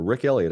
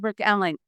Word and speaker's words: Rick Allen: So does the drummer, Rick Elliott, I believe his name. Is that correct? Did I say his name correct? Uh, Rick Allen. Allen. I always say that incorrectly.